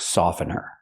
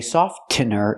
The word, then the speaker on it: softener: example this is fabric softener remember the tea is silent I cannot say softener it's softener this is fabric softener you